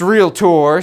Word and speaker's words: Realtor: Association of Realtors and it's pronounced real tour so you'll hear them talk about that all the time they've said that to me so many times even though I do pronounce it real tour anyways I digress so